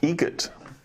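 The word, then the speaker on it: Eget: Egret. Spelt differently. Like the bird.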